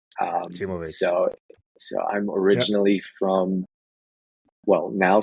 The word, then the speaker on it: Acimovic: Well, let me start by pronouncing my last name. I think that's the thing that everybody gets wrong. It's pronounced Acimovic. Acimovic.